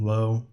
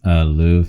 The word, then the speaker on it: Löw: They weren't always zooming in on the German coach's, how you say his name, Joachim Low? Oh, Joachim Löw, yeah.